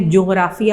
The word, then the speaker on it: جغرافیہ: جیم غین جغرافیہ، جغرافیہ۔ اس کو اکثر بچے غلط پروناؤنس کرتے ہیں، جغرافیہ یعنی ناک میں آواز ڈال کے پڑھتے ہیں، تو آپ نے اس کا تلفظ صحیح پڑھنا ہے کیونکہ یہ آگے جا کے بھی آپ کے نصاب کا حصہ ہوگی۔ تو جغرافیہ، ٹھیک ہے؟